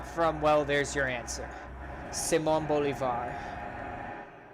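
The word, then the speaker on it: Simón Bolívar: well there's your answer Simone Bolivar we're just simon bullet simon Bulevar if you just want to pronounce it in English so if we were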